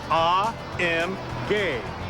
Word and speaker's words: AMG: As for those three little letters, AMG, well, we're told the proper German pronunciation is AMG.